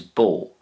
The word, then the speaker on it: bó: irish for cow is bo bo that's pronounced like lo in english bo and in ancient ireland